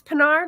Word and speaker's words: Penard: you're in Devon's audience it's penard like Captain peard so if you're Star Trek fan you are set I'm a historical fiction